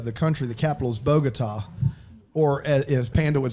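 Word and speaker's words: Bogotá: Alonzo uh Colombia the country the capital is bogot or as Panda would say it bot he said bot so you to be fair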